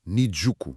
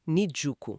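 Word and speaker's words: Niijuku: Mas sabia que há outra Shinjuku? Hum, com uma pronúncia diferente até. Nijjuku. Exatamente. Nijuku.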